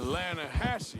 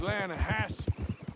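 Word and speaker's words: Lakay: some beautiful steelhead drout you mean the lashi river no no no no no no the the lah hatche it runs right near here yeah but it's pronounced lass why is everything in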